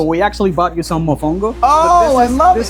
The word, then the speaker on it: mofongo: It's pronounced Mafanga, right? Mofongo. Yeah.